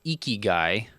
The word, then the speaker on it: Ikigai: shortly after the one we'll cover this, but Ikigai is how you say this. Ikigai, Ikigai.